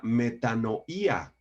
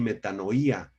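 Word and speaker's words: μετάνοια: La palabra griega metanoía, con acento en la I, metanoía, significa literalmente cambio de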